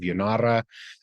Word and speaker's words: Janara: You can look up the witch cults of Yanara. Yanara is spelled Janara.